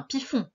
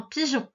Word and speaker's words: pigeon: On entend j. On n'entend pas f. C'est pas un piffon. C'est un pigeon.